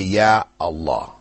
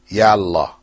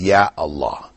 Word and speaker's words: Ya Allah: or particle yeah before Allah you still say yeah Allah you don't say yala people might mispronounce and say that but the correct way is Ya Allah which you will say so this is a